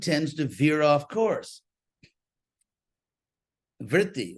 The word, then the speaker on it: vritti: Vritti, or virti, it's pronounced, which we still have in English, by the way. Chitta virti, we still have the word in English. It's come down unchanged in English in words like revert, pervert, invert, extrovert, and all that.